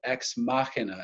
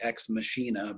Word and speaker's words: Ex Machina: a film that's called ex machina as the way it's pronounced it looks like ex machinae but that's that's incorrect so it's a Latin phrase and it simply means